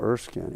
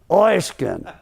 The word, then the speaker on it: Erskine: Yeah, the people in Brooklyn remember me because the way it pronounced my name. It wasn't Carl Erskine. It was Carl Erskine. I could hear these guys in the stand. Throw it through his head, Oysk.